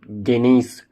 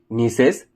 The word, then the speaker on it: gneiss: That is not gneiss, it is gneiss. G is silent here.